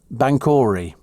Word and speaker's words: Banchory: Apparently, Banchory, says Bob, is pronounced Banchory. Oh. And somebody said, yeah, it's Banchory.